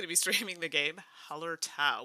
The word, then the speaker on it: Hallertau: be streaming the game holler tau which i've been pronouncing wrong forever i don't know why i added an extra a but i think i figured it out now so i know miguel's